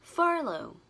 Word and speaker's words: furlough: Trọng âm rơi vào từ fur và nó là ơ dài, mình kéo dài âm ra nhé. Furlough.